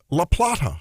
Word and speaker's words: La Plata: It's how would you pronounce Laplata? If you were in Spain or in La Plata, right? But it's La Plata. La Plata for sure.